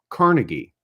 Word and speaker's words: Carnegie: and Dale Carnegie uh pronounced his name Carnegie um like the hall and uh was spelled